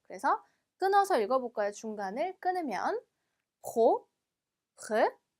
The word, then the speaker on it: propre: 자, 얘는 지금 pr 지금 r 발음이 2번 들어갔어요. 그렇죠? 그래서 조금 어려울 수 있습니다. pro라는 발음을 빼와 r를 거의 동시에 낸다고 생각을 하시면 돼요. 그래서 끊어서 읽어볼까요? 중간을 끊으면 propre, 한 번 더 propre,